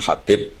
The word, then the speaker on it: Habib: yang nulis Abi Abdurrahman Habib asulami itu di harakatnya kitab itu ada yang nulis KH yang benar Oh gigih yang benar itu bacanya habib habib itu Sulami itu ikut